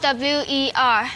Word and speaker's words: bower: BOWER 什么意思？